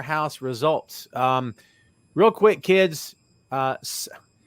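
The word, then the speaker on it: Sarray: Saray, am I pronouncing that right? And Zoe Stark, they've changed her name because it's WWE. It's Saray. Saray, okay.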